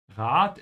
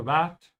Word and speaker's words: Rat: Rat is not a rat, it's a piece of advice. Der Rat, make sure you open your mouth wide on the A.